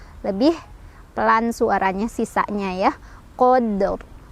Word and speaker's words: Qadr: Qadr, ro-nya tebal.